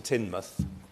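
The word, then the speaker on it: Teignmouth: and Parson's tunnel to tinmouth not tinmouth I'm afraid it's tinmouth tinmouth is somewhere else tinmouth give or close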